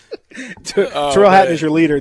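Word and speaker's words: Tyrrell: I think he pronounces it Terrell, but that's either way. That's still either way. Tyrell and Terrell.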